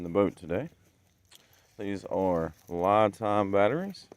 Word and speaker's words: LiFePO4: These are LiFePO4 batteries, properly pronounced LiFePO, and I'm excited to show you what we got here.